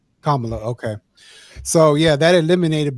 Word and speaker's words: Kamala: So, that eliminated Trump automatically and that eliminated uh Kamla or Camala. Um, if you say her name wrong, she gets upset. Kamala.